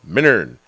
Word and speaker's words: Minturn: talking about Eagle County's original artisan market, the Minturn Market, celebrating 25 years. I know what you're saying, Ty. It's pronounced Minturn.